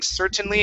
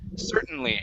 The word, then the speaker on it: certainly: a swallow t so instead of saying certainly and using a normal t sound you're going to say certain certainly you're going to go right to the n certainly centrally okay skip the t we don't pronounce the